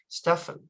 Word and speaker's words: Stephen: agenda because I know you spell it Stephen but you pronounce it it's pronounced Stefan is that correct sir